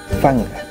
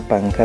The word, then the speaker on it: Kikiñarifanga: Kikiñarifanga es la cédula de identidad o pasaporte, la KIKINYARI, Kikiñari, PANK, Fanga. Está panca, pero se pronuncia fanga, ¿de acuerdo?